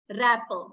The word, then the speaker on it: wrapper: words rapper wrinkle wrong though there is letter w still we are not pronouncing it right so there is Rule behind it the letter W is silent when it is placed before letter r as you can see